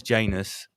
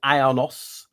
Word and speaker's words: Janus: There's Janus. There's with a Y, Janus, and there's Ionos. That was his original name.